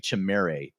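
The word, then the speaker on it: Chimere: I'll go ahead and throw out Chimry DK as well, Ian. Uh, I think it's actually Chimera DK if I'm saying it correctly there.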